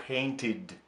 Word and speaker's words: painted: Глагол paint, красить, оканчивается на t звук, paint. Соответственно, прошедшее время читаем как painted.